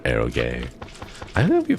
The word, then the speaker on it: eroge: That's what's pronounced eroge.